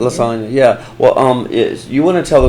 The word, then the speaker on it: Lasonya: So, Miss Lasonya, is that how you say it? Yes, it is. Lasonya, yeah.